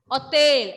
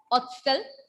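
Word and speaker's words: hôtel: Hotel. I am not saying hostel here. For the pronunciation is not hostel. It is hotel.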